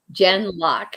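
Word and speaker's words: Gen:Lock: that name again it's Jen gen geen like generation g n and then like uh semicolon or colon and then lock Lok k l okay Jen lock yeah and it was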